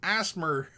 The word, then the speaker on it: ASMR: It's pronounced Asmer.